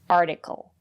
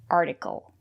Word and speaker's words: article: And if the syllable is not stressed, we pronounce the letter T as a fast D, article. Articulate, article.